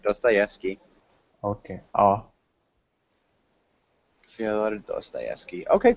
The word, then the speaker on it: Dostoevsky: English, this is how we pronounce it. Dostoevsky.